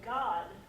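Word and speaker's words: Gad: Hebrew it's always a ah so you say God and what does God mean a fortune right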